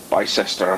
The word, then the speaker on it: Bicester: Bicester. Bicester is Bisty.